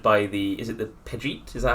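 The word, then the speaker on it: Pejite: Uh, Nikka's been uh has been captured by the Is it the Pidgeet? Is that how it's pronounced? Uh, I actually read the phonetic spelling. It is the uh Yeah, Pajet. Yeah.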